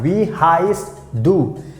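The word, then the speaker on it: wie heißt du: so you can ask we highest do we highest do we highest do that's how you have to pronounce both has the meaning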